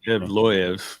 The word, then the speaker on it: Evloev: oh yeah I'm hear I'm hearing them pronounce evloev so evloev yep that's probably right don't trust me for